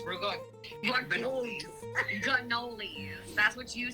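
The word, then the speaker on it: ricotta: You have baby literally at every holiday, and you call it regote and cannoli. No, you said it wrong. It's regote.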